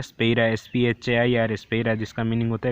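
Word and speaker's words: σφαῖρα: है, इसको कहते हैं स्पेरा, SPHAIRA, आसान है स्पेलिंग, एक बार याद रखोगे हो जाएगा, SPHAIR, स्पेरा।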